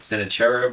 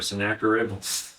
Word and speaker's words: Sennacherib: Sennacherib or Sennacherib? Sennacherib. I'll use that. I like that one.